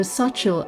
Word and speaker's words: Xochitl: So Xochitl, I finally googled how to pronounce the name properly.